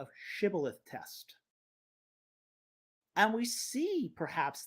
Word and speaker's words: shibboleth: would say to him say now shibboleth but he said sibilith for he could not pronounce it correctly Then They seized them